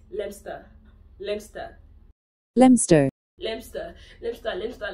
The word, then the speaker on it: Leicester: It's Leicester. Leicester. Leicester. Leicester. Leicester. Leicester. Leicester.